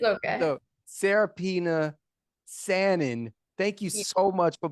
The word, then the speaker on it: Sanan: I keep saying Sanan. It's Sanan, people. Do not be like Brandon J and say it wrong.